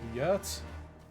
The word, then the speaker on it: yurt: Yurt? Yurt. Yurt. Yeah. Pronounced the same way if you were to swap the Y for an H.